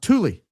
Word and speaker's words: Thule: But I'm pretty sure the air-based Thule is pronounced Thule.